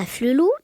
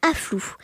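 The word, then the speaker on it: Afflelou: C'est je l'accompagne chez Alain à Flelou alors qu'elle n'est toujours pas capable de prononcer le nom de ce célèbre opticien. Elle dit afflou et pour une enseigne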